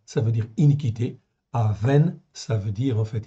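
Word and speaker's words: אָוֶן: Ces deux mots, c'est très proche, mais ils s'écrivent pas du tout pareil. Okay, ça se prononce presque pareil, okay, d'où la confusion, mais ça ne s'écrit pas de la même manière.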